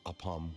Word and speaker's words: Apam: Here is one of their latest products, water from Sumeru's Apam Woods. Oh, I always pronounce it as Apan.